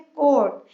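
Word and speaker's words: coat: कोट, कोट में ओ, ये ओ sound हो रहा है, बट ए इज not sounding, it's silent.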